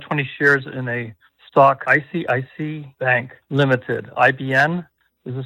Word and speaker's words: ICICI: All right, looking at IBN as a symbol, and Steve used to call this Icky Bank. I don't think that's how you pronounce it. It's just ICICI Bank.